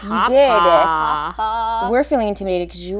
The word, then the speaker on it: Hapa: Hapa.